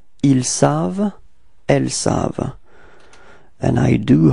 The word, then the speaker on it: ils savent: Ils savent. Repeat. Ils savent. Okay, so keep in mind that E-N-T, okay, the ending is not pronounced, so it's only savent, v-v-v-v, it ends with the sound v, okay, ils savent.